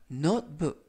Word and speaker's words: notebook: 이때 중간 부분에 있는 알파벳 T는 발음이 거의 나지 않고요. 그래서 노트북이 아니라 notebook 라고 발음하시면 좋겠습니다.